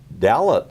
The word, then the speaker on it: Dallet: for having me and your name is Dalit and it rhymes with Bella well you're a young